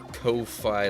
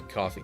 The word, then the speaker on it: Ko-fi: Call it Ko-Fi, like lo-fi, but I think it's supposed to be coffee. Yeah, I would think it's supposed to be pronounced coffee as well, given like the coffee mug logo that they have.